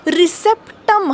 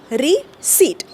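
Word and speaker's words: receipt: आर सी आय पी पण आपण त्याला रिसेप्ट म्हणतो का नाही आपण काय म्हणतो रिसीट ओके तो पी तिथे कोपऱ्यात गप्प बसतो आणि शेवटचा अजून एक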